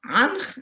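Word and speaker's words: ankh: The very famous key of life that everybody knows is pronounced anch, and it is a triliteral sign.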